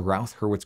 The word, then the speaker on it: Routh-Hurwitz: But for now, we learned what the Routh-Hurwitz criterion is, and hopefully learned how to pronounce it, Routh Hurwitz.